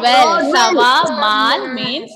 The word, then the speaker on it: mal: Yes, here L is not silent. L we will pronounce. Ça va mal.